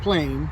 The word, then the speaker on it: plein: It's spelled P-L-E-I-N, pronounced plain, and it just means outside.